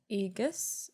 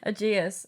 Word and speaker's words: Aegeus: So we are following the story of a dude called Aegus. That's not right. How do you spell it? Oh no. Aegeus.